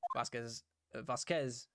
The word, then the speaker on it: Vasquez: Vasquez, first syllable. Vasquez.